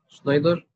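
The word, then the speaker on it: Schneider: شنايدر شنايدر شنايدر خلي بالك الإر ما بنطقش.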